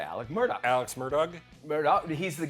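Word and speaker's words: Alex Murdaugh: Alex Murdoch, you say Alec Murdoch.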